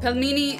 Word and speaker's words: пельмени: You guys keep saying, pronounce it right. Pelmeni. Like peel. Pelmeni. There you go. I said it right. It's pronounced pelmeni.